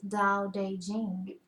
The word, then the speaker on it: Tao Te Ching: Tao Te Ching, pronounced more or less Dow-Day-Jing, can be translated as